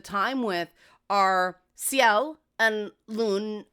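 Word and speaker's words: Lune: The women we spend most most of the time with are Seiel and Lun A. They say Lun even though it's spelled Lon.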